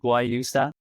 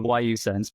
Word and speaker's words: guayusa: It's guayusa, so you can say it with a G, guayusa, or guayusa. In Ecuador, they call it like guayusa. They don't pronounce the G.